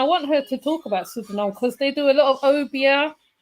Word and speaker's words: Suriname: Suriname. I always say it wrong, don't I? You say Suriname, but it is with an R.